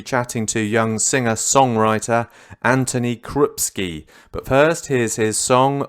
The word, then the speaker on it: Antoni Krupski: i'm good well rested yeah excellent am i pronouncing your name right anthony krupski yeah that's it okay is it is it